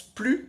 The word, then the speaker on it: plus: que dans l'autre cas si je ne prononce pas le S c'est-à-dire que je prononce plus dans ce cas-là ça